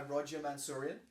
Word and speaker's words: Roger Mansourian: We are joined today by Roger Mansourian. Yes, sir. I'm pronouncing that correctly this time?